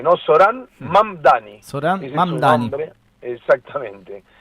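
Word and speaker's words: Zohran: Során Mamdani es su nombre. Exactamente. Con Z. Así que Zoran sería Zorá.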